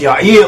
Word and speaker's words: Yair: j a i r it should be pronounced y or at least that is how it's pronounced in Hebrew and that is also